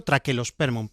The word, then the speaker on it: Trachelospermum: Correctamente habría que decirlo Trachelospermum, pero yo pronuncio la che. Trachelospermum jasminoides.